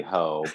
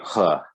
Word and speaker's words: Ho: I would like to point out, I know it is funny to call it Dirty Ho, but the actual Mandarin pronunciation is actually Dirty Huh.